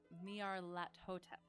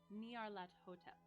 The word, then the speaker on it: Nyarlathotep: So oh shoot, I looked up how to kind of pronounce this. But Nyarlathotep. Nyarlathotep. Nyarlathotep.